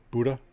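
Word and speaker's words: Budda: our first Gibbs base Buddha that's how you pronounce it William all right I'll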